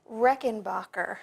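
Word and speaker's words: Rechelbacher: um founder was horse how do you say the last name reinbacher reinbacher you would never know it was pronounced that that way by looking at it it's very rough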